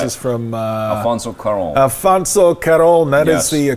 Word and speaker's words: Cuarón: Alfonso Cuarón. That is the Cuarón. That is the proper pronunciation.